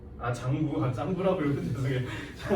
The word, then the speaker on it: 장구: Oh, that's a 짱구? 장구. 짱구라고 읽으면 죄송해요.